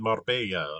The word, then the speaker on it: Marbella: that that was in Marbella, right? That See there, I pronounced it with a hard B, like because I'm an English speaker, right? Marbella, right? There's no distinction between a B and a V.